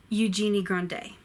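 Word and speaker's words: Eugénie Grandet: a genie Gandhi II J me go D Eugenie grande do you start feel better you staff flow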